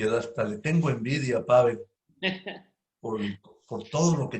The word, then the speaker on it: Pável: Pavel, bueno, como se diga, pero yo lo digo Pavel. Porque tienes el acento en la A, por En eso. la A, exacto.